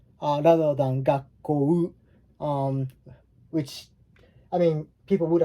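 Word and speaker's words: 学校: This one, when you have a double vowel in Japanese, it's usually we don't pronounce u, enunciate u. We tend to kind of mix them up, and it makes the elongated sound of o, like the last one that follows.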